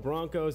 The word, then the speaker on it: Bronchos: the season they hosted the UCO Broncos it's spelled bronchos but that's not important